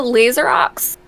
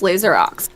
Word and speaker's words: Laser Ox: so mine is a laser Ox I say lasero which I feel like is a French thing and I know it's laser Ox which I just say it wrong and that's my own